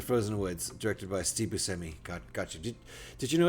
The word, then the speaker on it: Buscemi: I'm going to go with what the guy we're talking about says. Crazy, though. I think everyone pronounces it wrong.